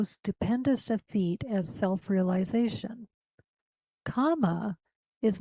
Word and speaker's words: kama: So, Nishkama karma means literally work that is without kama, not karma, kama, K-A-M-A.